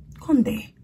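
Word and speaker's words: Condé: it's conde nast conde there's an accent on the e conte conde conde president of conde nast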